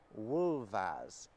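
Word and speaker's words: wulfas: Wolf and wolves and they're pronounced wolf and wolas you hear how the f is making a very different sound the second time round and you can see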